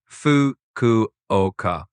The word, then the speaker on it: Fukuoka: It's basically Fukuoka. Pretty straightforward once you hear it.